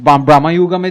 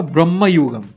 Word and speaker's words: Bramayugam: সেই মামতি আর এই ব্রাহ্মুগমের যে মামতি আকাশ পাতাল তফাত বেসিক্যালি ব্রাহ্মুগমের কনসেপ্টটা হচ্ছে sort of like Kaliyuga you can either pronounce it's ব্রাহ্মুগম অথবা ব্রহ্মযুগ আচ্ছা তো ব্রহ্মযুগের কনসেপ্টটা